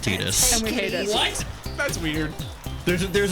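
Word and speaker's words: Tidus: His name is actually pronounced Tetus and everyone.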